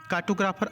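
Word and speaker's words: cartographer: कार्टोग्राफर, are silent है यहाँ पर।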